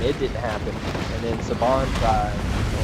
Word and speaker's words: Saban: To try to Saban? get, yeah. To get Or that Saban? off. How do you pronounce it?